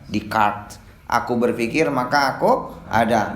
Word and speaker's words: Descartes: Ditulisnya mah Descartes, dibacanya Descartes.